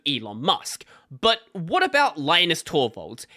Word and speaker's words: Linus: aren't used to a name like Linus or lenus so lioness is the closest equivalent that is used in an English context and there's no point